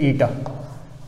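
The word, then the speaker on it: η: ईटा मतलब ये इस वर्ड का pronunciation is ईटा, इट इज़ a Greek letter ईटा।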